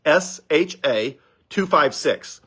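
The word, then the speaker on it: SHA-256: same one right now is called sha 256 sha256 and it's uh I forget it's a complicated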